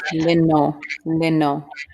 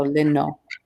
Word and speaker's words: lino: Man, lino. And see here again, the first U is an I sound, and the second U is a long O sound. So lino.